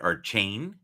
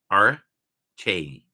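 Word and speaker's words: Achane: Now I've heard Archain. I've heard maybe 5 different variations, but supposedly it's supposed to be said Arche, like almost like Arch A.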